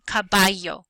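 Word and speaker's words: caballo: so sabado sabad Saturday the Double L sounds like a y y so here we have coio coio or knife cabayo cabayo is horse the letter J when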